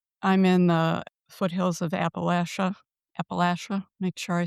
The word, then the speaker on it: Appalachia: Currently, I'm in the foothills of Appalachia. Make sure I say that right. I never do. Appalachia.